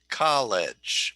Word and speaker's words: college: it the second syllable yes you're right it is the first syllable so when i want